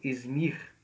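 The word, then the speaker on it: İzmir: tendo o mesmo nome é o nome da cidade hoje é pronunciado izmir essa cidade tem 4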